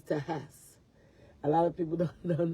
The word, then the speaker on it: Tejas: And a lot of people don't know the way to pronounce like Mexico and Texas is Mexico. And then for Texas is Tejas.